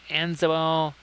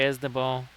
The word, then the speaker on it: Asnabal: Hey there, Anzabal. Or Asnabal, sorry, Asnabal. Yeah, Blades and I, we had a little discussion about that. So yes, my apologies for the incorrect pronunciation for so long.